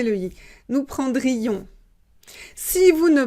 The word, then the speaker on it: prendrions: il prendrait elle prendrait on prendrait nous attention nous prendrions on doit prononcer lui nous prendrions si vous ne prononcez pas le ici vous